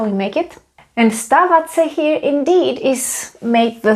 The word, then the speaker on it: stát: it will be done stat remember it's just like start but it's a little bit longer this extra syllable V